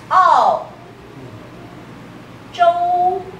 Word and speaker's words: 澳洲: Okay, so Australia becomes Ao. Zhou. Australian continent. Ao Zhou. So Taiwanese people will not say to you Australia, too lazy. They'll say, oh, Ao Zhou.